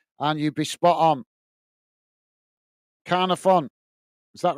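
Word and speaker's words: Caernarfon: Jonathan is saying car sounds like car in English. Say Carna Fon. Carna Fon.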